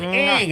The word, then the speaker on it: Ng: It's spelled NG, NG. but there's an A. But in we there. get Ang out of that.